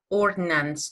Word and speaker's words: ordnance: Okay, here the questions are, how many pounds of ordnance could the Avenger carry up? And what kind of plane was sent to rescue the three-seater Avenger? Yes? What is this word, ordnance? Ordnance, do you know?